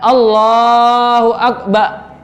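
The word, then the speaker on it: الله أكبر: Terus tidak tertinggal satu huruf pun dalam mengucapkan. Tidak tertinggal satu huruf pun berarti ya. Kalau tidak tertinggal jangan sampai ba atau rnya itu tertinggal enggak diucapkan ya. Allahu Akbar. Rnya hilang enggak boleh. Satu huruf pun enggak boleh hilang di situ.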